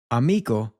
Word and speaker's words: amigo: Which brings us onto our first main point, which is that the letter I in Spanish will take on more of a double E sound. So, we get amigo.